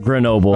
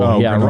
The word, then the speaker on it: Grenoble: Grenoble, Grenoble. Rhymes with Chernobyl.